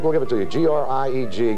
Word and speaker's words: Grieg: G-R-I-E-G. Grieg is usually the pronunciation, but you know it.